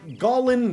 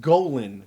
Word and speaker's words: Golan: fro they also developed the unforgettable fox cartoon Gan the insatable what it it's pronounced Golan the unsatiable Silverstein and jesser shared a lot